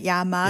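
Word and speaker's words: llama: 그 남미가면 맞습니다.네 침 좀 침 좀 잘 뱉는 친구 이게 이제 엘자가 두 개가 있거든요. 앞에 그러면 Y로 발음해야 돼요. 아 야마 그네 그래서 야마입니다.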